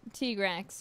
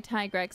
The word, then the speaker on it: Tigrex: It is pronounced T-Grex, right? I feel like that's the only way I've ever heard it said. But I think if you want to say Tigrex, that's fine too.